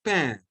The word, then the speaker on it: pain: We pronounce it as pain.